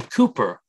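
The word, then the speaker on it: Cowper: in spurgeon's life um William Cooper uh sometimes wrongly said cper he actually uh specified how his name was to be pronounced but William Cooper C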